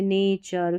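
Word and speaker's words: nature: आर ई को चर पढ़ना है चर जैसे नेचर फ्यूचर पिक्चर कल्चर ऐसा तो टी यू आर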